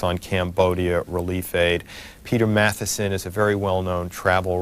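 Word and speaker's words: Matthiessen: Peter, I'm not even going to try to pronounce it. Right, Peter Matheson. It is Matheson.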